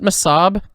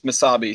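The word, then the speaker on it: Mesabi: Oh, is it Masab? Mhm. Okay, I- I don't know how to say it then. Never mind. Bruce Springsteen says Misabi, so I would go with that.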